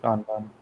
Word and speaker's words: Kanban: I got to look up the pronunciation there, but this is the Kanban view. It's just Kanban.